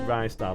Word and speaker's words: Ristar: I pronounce it Ristar, like Ricicles.